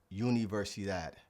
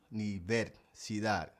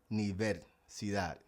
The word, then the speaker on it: universidad: Last but definitely not least, the Spanish U, or the U sound. Now, I hear this one being butchered all the time by English speakers. And yes, you guessed it, the word university. A lot of English speakers like to say universidad, but it's actually universidad.